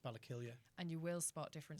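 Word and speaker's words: Ballakilley: It's spelled with an EY, Yeah. but it's pronounced Ballakillia.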